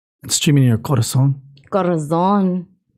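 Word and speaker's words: corazón: Corazon. You gotta roll your R's. Corazon.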